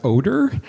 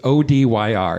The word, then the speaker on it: Odyr: artist who I think his name is pronounced Oder. It's Odyr. It's a one-name person.